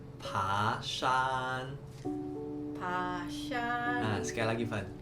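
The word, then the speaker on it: 爬山: Nah, teman-teman, hiking di Mandarin itu bacanya pashan.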